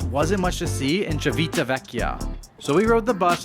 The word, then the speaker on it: Civitavecchia: How do you pronounce it? Civitavecchia.